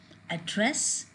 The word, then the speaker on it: address: So these are the examples: to address, to become, to complete, to contrast, to discuss, to export, to improve, to present. These are the verbs with the prefix and the stress is on the second syllable.